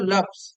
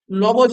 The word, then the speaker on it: লফজ: এবার আন্ডারলাইন কর লফজ, লবজ না, হ্যাঁ, উচ্চারণটা লফজ।